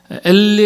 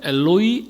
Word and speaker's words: 엘로이: 엘리 엘리라막 사박다니 아시죠? 근데 이게 정확하게 발음하면 엘로이 엘로이 라마사박단입니다. 엘로이 원어에서는 그렇게 돼 있어요.